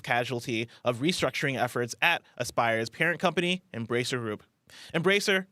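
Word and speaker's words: Aspyr: a collaboration between developer asper or Aspire always pronounced Aspire Aspire media and production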